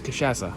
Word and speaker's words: cachaça: Is Ivana trying to say, I think it's cachaça.